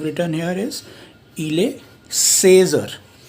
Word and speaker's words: heures: 15 is 15 or. So we have spelling of or written here, ash, a, u, r, a, s, right.